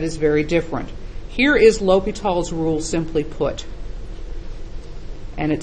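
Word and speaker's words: L'Hôpital's: how you spell it it looks like L apostrophe hospital with the S left out of it the way you pronounce it is long Oh low P long e l'hopital's rule it's named after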